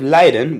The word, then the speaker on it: leiden: height and there's also words that sound exactly the same but look different at the different I for their meaning as the long I so you have Leiden with it with a long I which means to suffer and yet Leiden with a court I which means to lead that's the only difference